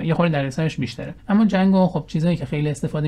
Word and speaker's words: Django: چیه حالا نوه نوشتنشم با یه دی شروع میشه می‌نویسن دی جنگو اما جنگو تلفظ میشه خب من د تا